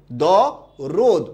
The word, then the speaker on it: দরদ: দ রদ হবে না দ রোদ হবে? দ রোদ। উচ্চারণটা কি? দ রোদ।